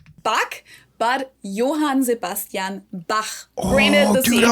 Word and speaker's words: Johann Sebastian Bach: and it's not pronounced Johann Sebastian Bach. Bach, but Johann Sebastian Bach.